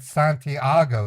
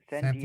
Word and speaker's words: San Diego: You said Santiago. That's in another country. San Diego, Santiago. sir. Santiago. Where is it? Where? Oh, you're saying San Diego. You just don't know how to pronounce it right.